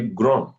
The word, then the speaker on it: grand: So we say grand. The D is silent.